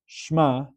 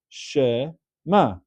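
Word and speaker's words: שמע: The first word Shema, it's not Shma, which would be one syllable, but it's actually two syllables. It's Shema.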